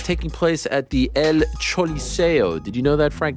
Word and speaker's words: Choliseo: Not the El Coliseo, it's the Choliseo. Yeah, the Choliseo. Even though it's pronounced C-O, it's actually, or it's spelled C-O, it's actually pronounced C-H-O in a roundabout way.